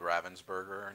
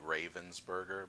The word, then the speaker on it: Ravensburger: for a company called ravensburger north america um it's spelled like raven's burger but it's ravensburger because they're a german company they're based out of